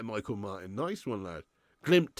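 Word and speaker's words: Glimt: Martin nice one lad glimp is pronounced glim thanks for sharing oh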